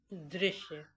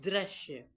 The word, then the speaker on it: दृश्य: जो ऊपर first number पे स्पेलिंग लिखी हुई है, आप देख रहे हैं, उसमें द के नीचे री की मात्रा लगी हुई है और इसको हम लोग प्रोनाउंस करते हैं दृश्य।